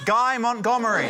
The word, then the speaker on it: Guy Montgomery: Up next, his name rhymes with DIY Montgomery. It's Guy Montgomery.